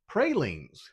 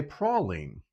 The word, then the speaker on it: praline: many of you have, if you're in Louisiana, you would say prolene. In Texas, we say praline.